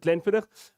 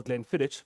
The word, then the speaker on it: Glenfiddich: heard on the presentation is exactly how you pronounce it glenfidder for those who just discovered alcohol gland footage but it's definitely then fitter um has innovation